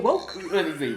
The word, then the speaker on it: Vouks: I say woke. Woke.